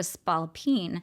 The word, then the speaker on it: spalpeen: And he talks about how it's difficult for her to be married to a spalpeen.